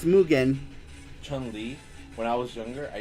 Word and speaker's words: Chun-Li: Yeah, I think I've heard people say it that way. Actually, everyone's been saying it wrong because it's actually Chun-Li.